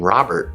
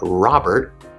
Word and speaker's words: Robert: or even my name robert when i say my name robert i cut off that sound i don't say robert robert uh what would